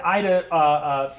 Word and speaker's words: Ayda: Oh, by the way, and Ida, her name when you actually hand the note over is spelled alliteratively. So it's AIDA. AYDA Aguefort. You see that Ida Aguefort